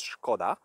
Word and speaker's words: Škoda: why it's pronounced skoda because of this s with this hat before the s which is pronounced in czech as shu so it says shkoda and let's see the